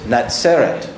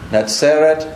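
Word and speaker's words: נצרת: So in Hebrew, Nazareth is Natseret. 那所以在希伯来文，它那个就是 Netzer。 Natseret, Netzer.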